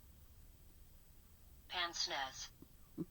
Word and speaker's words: pince-nez: Pince-nez.